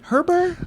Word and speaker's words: Herbert: No, but he said the correct pronunciation is the T being silent. Which, how does that Herbert? I say it the way he says it.